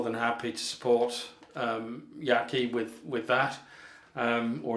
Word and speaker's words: Yaqi: happy to support um yaki with with that um or is it yachty i don't know whether it's yatchy or yaki sig i think did some research and found out it's pronounced yatchy but there we are